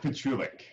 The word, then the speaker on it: Pichulik: me with your last name again it's actually pronounced petruvic the chula so i'm extremely happy to have on board dylan petrulic dylan pachulek is the founder and ceo of xcel property